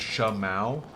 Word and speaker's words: Schmow: Schmow with the one buck for future. My name is pronounced Shamau. Oh my god.